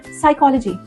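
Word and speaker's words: psychology: Think about the word साइकोलॉजी। You don't say साइकोलॉजी। द P just disappears.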